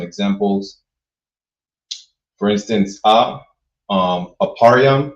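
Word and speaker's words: אפרים: For instance, a um aparam, which is how you say Ephraim, the tribe of Ephraim, who are the so-called Puerto Ricans, right?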